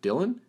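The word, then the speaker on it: Dillon: Narrator's note, here it's spelled Dylan, D-I-L-L-O-N, so I'm going to pronounce it Dylan.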